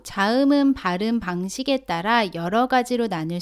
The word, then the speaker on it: ㄱ: 오른쪽으로 쓰다가 아래로 내렸습니다 기억은 터에 뒷부분을 입천장 뒤쪽에 붙였다가 떼면서 발음합니다 몸 알을 붙여서 가 라고 발음합니다 따라해보세요 가 다음은 니은